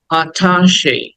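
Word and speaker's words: attaché: এটা অ্যাটাচি না, অ্যাটাচ না, হ্যাঁ? অ্যাটাচ করলে এটা অন্য শব্দ। অ্যাটাচ এটা ভার্ব, এটা মানে যুক্ত করা, সংযুক্ত করা। কিন্তু এটা হচ্ছে আঠাশে, আঠাশে। বলো আঠাশে, আঠাশে, আঠাশে, আঠাশে। লাস্টে একটা এই সাউন্ড আছে, হ্যাঁ?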